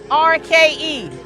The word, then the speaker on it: Goerke: Dan, look, it rhymes with turkey. I know you. It's Goerke.